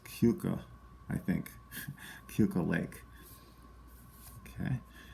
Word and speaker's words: Keuka: This one, Keuka Lake.